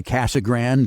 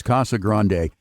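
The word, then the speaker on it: Casa Grande: Some people say Casag Grand, but I like to go with the Spanish pronunciation. It's the big house, Kasa Grande.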